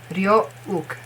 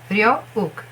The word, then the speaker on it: Ryeowook: It's not wook. It's ook. Ryeowook. Nothing. Ook. Ook. Ryeowook.